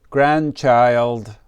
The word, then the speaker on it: grandchild: We don't really pronounce the D. We just say grandchild, please make a flash card like this.